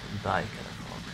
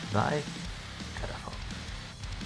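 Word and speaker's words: Thy Catafalque: Hello, my musical project is pronounced Die Katafalk. Die Katafalk.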